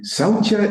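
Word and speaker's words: शौच: Saucha tiene que ver, esta C de casa en español se pronuncia como sha, ¿sí?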